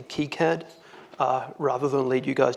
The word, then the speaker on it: KiCad: has pronounced kicad I read online that it's pronounced kicad and that's it must be true up until yesterday I've always pronounced it as head I'm going to try hard to say kicad rather than lead you guys down the wrong